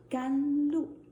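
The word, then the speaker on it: 甘露: Today, because of the weather, because of my mood, I choose the tea called gan lu in Chinese. And in English, it means precious dew. So follow me. Let's pronounce it again.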